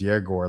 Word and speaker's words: Egor: Uh I know uh Jaggore like his name is spelled Egore, but his name is Jaggore.